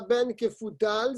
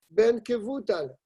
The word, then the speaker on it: Ben Kevutal: C'est pas Ben Kefutal, c'est Ben Kevutal.